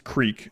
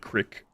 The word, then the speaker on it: creek: and get some moonshine where I grew up it was Creek yep although I did there was a kid that moved from Northern Georgia to where I lived who pronounced it Crick I tried FTL Multiverse